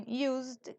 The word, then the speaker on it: used: Z pero esta S como en Used que es prácticamente una s que suena como una Z y z a i